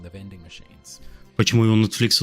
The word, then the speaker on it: Netflix: Simply Netflix. Netflix. Here are... Два ударения, да вы охренели.